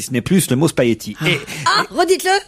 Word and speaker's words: spaghetti: Vous avez dit le G, là. C'est génial. Non, j'ai pas dit le G, j'ai dit Ils disent- spaghetti. Et alors, ils disent que je dis spaghetti et qu'il ne faut pas dire spaghetti, mais qu'il faut dire spaghetti. Mais je suis désolé, on entend très rarement le G quand quelqu'un parle de spaghetti.